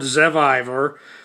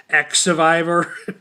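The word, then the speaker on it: Xevivor: how that all happens the show's called zeviver I didn't know uh um that that's why in that other video I made I was pronouncing it X Survivor I didn't realize that X can make the z sound I guess in the German language which I I guess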